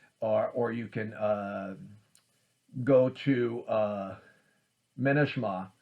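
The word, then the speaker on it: Menemsha: you can go to Minishma. I think it's Minimisha, I think is how you pronounce it, which is the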